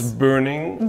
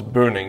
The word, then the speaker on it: Boening: It's Furuno, and burning. In partnership. And we still can't agree on how that's pronounced. Because so it's burning, because it's an umlaut. It's a O with the two dots on top.